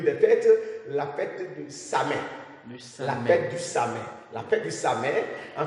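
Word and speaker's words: Samhain: Mais je peux noter le nom Samet. Samet, ça s'écrit comment?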